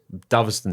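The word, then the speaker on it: Dovaston: It's do it is Doveston. Doveston sounds better but Doveston is how he pronounces it.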